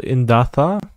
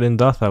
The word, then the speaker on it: Indatha: what are these icons it's called indatha and you said in data which is impressive but I always type